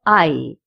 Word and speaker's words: hay: We use the verb I because it's a very important verb when we make a sentence. First of all, I is spelled as H-A-Y, and it has 2 meanings.